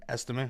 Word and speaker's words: Estime: The one catch with Jaleel McLaughlin is rookie 5th rounder Audric Estime is around. Estime, yeah. Estime, okay. Yeah, it's just like estimate.